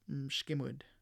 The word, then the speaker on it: mshkimud: So if we get rid of that A sound, then we'll have our consonant cluster.